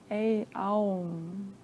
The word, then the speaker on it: Aum: So it's A-U-M, similar to Om, but we pronounce it A-Aum. It's like a vowel sound.